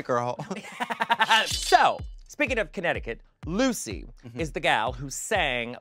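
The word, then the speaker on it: Loosey: Lucy spelled like she's not tight. Like L-O-O-S-E-Y is how she spells it.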